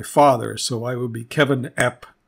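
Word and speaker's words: Cefyn: spell it and then kevin is c-e-f-y-n it's c it's pronounced k-e-v the y is like the i and uh even is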